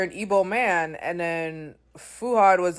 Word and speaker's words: Fuad: started off with um how do you pronounce fuad's name fuad or fuhad you know the Nigerian way how do you pronounce